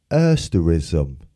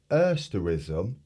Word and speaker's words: asterism: um have a look a s t e r i s m so classic there's four syllables so you go ass um asterism if you think about it it's like asteroids yeah asterism i suppose